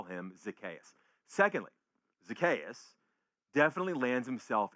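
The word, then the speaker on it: Zacchaeus: I pronounce his name Zakayas. I've always done. A lot of people say Zakius. Those people seem to be Southerners.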